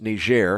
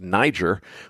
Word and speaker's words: Niger: the backstory here is ner and if you're not sure what I'm talking about the uh West African country that's uranium rich and looks to English speakers like it ought to be pronounced Niger well that's a french-